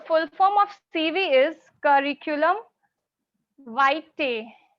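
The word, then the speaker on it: curriculum vitae: form of CV is curriculum white people tends to mispronounce this word they they pronounce this word curriculum v no this is wrong according to IPA it is curriculum white okay yes so today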